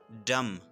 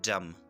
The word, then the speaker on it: dumb: Dumb, गूंगा। इस word में बी साइलेंट है, ठीक है, इसकी सही प्रोनाउंसिएशन है dumb, ठीक है, इसको dumb मत प्रोनाउंस कीजिए, dumb, गूंगा।